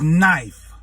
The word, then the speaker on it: knife: That word is knife. Why is not knife? Why is it? Then it's got an N right there. They said the K is silent.